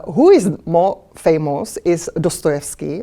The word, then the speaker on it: Dostoevsky: is more famous is dostoevsky or dassevsky how his pronunciation in russian dostoevsky became friend with